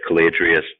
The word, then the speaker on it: Caladrius: a company called caladrius Biosciences the website is caladrius calm it's spelled Cala dr i us thanks for coming